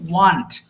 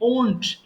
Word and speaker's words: won't: এটাকে sometimes we pronounce mistakenly want। অনেকে এটাকে want বলে ফেলে unfortunately, but it's not want at all, it should be won't।